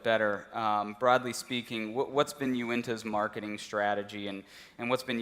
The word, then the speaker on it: Uinta: been around for around, by the way, it's pronounced Uinta, just so everyone knows that. That's always one of the hardest things. I think today, just introductions with other people, I've heard Uinta pronounced 10 different ways, which is always a